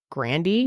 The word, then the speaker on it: Grande: come up that you it's not grande it's like Grandy oh yeah remember that